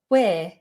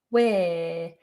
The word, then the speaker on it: where: then ignore them and just go for where where but don't pronounce the letter r don't try and do